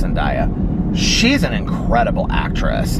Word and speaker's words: Zendaya: That Zendaya, am I pronouncing her name right? Zendaya, I think it's Zendaya.